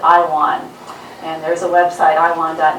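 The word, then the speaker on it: IAWN: astronaut asteroid warning network where we pronounce it i won and there's a website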